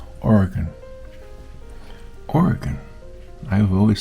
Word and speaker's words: Oregon: in Oregon or as I'm told the correct pronunciation Oregon Oregon I have always said it wrong all